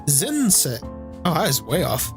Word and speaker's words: 前世: Zense. Oh, I was way off. Okay. Zen is how you can pronounce that, as well as mae is the individual kanji's pronunciation.